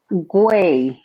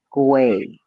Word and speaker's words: Guay: I will even help you pronounce it. Guay. Not with the W. Guay with the G. Guay.